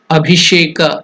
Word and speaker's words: Abhisheka: Again here Abhisheka, there also that mantra, the Sha is the Murdhanya, Sha, just like Pushpa.